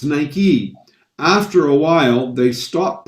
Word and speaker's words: Nike: us in north america we would have called it nike because it because it looks like like right or mike but it's nike after a while they